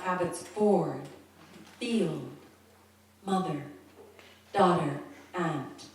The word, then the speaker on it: Abbotsford: Broadcast, the correct pronunciation, Abbotsford, not Abbotsford.